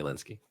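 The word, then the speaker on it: Lynskey: you say it yeah to my understanding it's Melanie Linsky Linsky got it got yeah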